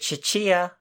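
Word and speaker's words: Tchia: Chia. That's what I was thinking too when I saw it. Is it Chia? Is that how it's pronounced? I think so, yes. I believe the T is mostly silent.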